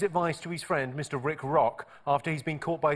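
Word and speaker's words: Rik Rok: Rick Rock's So Shaggy's talking to Rick Rock? Rick Walk.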